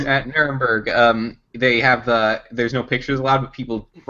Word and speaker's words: Nuremberg: Did I say it right this time? Yeah, Nuremberg. I think so. Yeah. Nuremberg! I mean, technically, that's entirely wrong if you're saying it with an English accent.